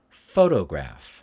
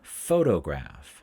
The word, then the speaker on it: photograph: fill in fill in photograph photograph photograph be aware even though it's a p sound of course it's uh we pronounce it as an f sound remember that sound that